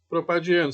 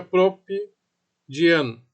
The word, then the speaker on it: propadieno: E é um hidrocarboneto propadieno, senão ficaria propidieno, né? Então para ficar um nomezinho mais para ficar melhor, né, de pronunciar, coloca esse azinho aí, propadieno.